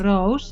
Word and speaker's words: Roos: Well, first of all, you can pronounce my name as Roos, because Roos is the Dutch for rose in English, like a flower.